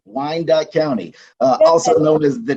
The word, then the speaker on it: Wyandotte: So, yes, Vanessa, you did say it correctly, Wyandotte County, also known as the DOT for short.